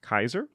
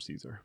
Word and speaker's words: Caesar: versus soft Consin but which is why in within the legion he's pronounced Kaiser and without everyone just calls him Caesar now the currency that